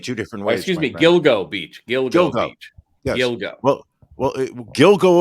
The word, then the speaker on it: Gilgo Beach: Gigolo Beach not Gigolo Gigolo Beach you just pronounce it two different ways excuse me Gilgo Beach yoga well well Gil go over there and